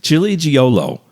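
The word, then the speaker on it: Ciliegiolo: Chili Giolo. Yes, it's spelled Ciliegio.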